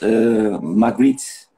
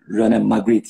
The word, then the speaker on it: Magritte: Magritte. I think it is pronounced like this, René Magritte.